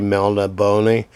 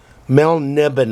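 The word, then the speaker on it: Melniboné: of Mel nibine books some people say melna bony like I used to say but a British guy pronounced it melniben Mel nibine I think that's probably as Michael morcock intended 10 roll 3 die 6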